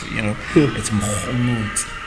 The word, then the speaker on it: Mogomotsi: When you think of my name, you must think French because the French are the ones who pronounce the G's. It's Mogomotsi. Right? It sounds romantic.